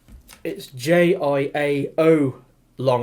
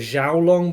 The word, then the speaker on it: Jiaolong: I mean, it's pronounced Jai as in J-Y long, but it's J-I-A-O long. I thought it was Jiaolong, but I've listened to other people on videos, pronouncing it, and it's Jiaolong. So, but anyway, so it's this little submarine.